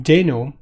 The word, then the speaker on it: Deno: calling it Dana but recently he's calling it Dino because it's a dinosaur so I'm gonna call